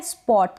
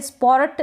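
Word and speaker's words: spot: सीखेंगे फिर ये है स्पॉट क्या है स्पॉट यहां पे स्पोर्ट ना बोले इसको स्पोर्ट बोल दिया तो स्पोर्ट पढ़ेंगे तो गलत उच्चारण हो जाएगा स्पॉट क्या होगा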